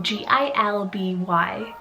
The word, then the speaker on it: Gilby: boy side i have the name gilby so g-i-l-b-y gilby this is a total vintagey sounding name